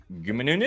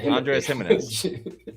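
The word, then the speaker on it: Giménez: Um, Scott says, "Andres Gumunz. I think it's I think it's Jimz." I think it's Andre Gimenez.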